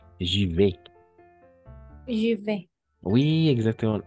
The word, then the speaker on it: j'y vais: J'y vais. Je vais. Oui, exactement. A, I, toujours E. Siempre va a ser A más I, E.